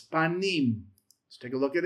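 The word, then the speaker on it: פנים: You have the pe, comments, you have the noon, you have the hiriq yod, and you have the mem, the m. And it's panim.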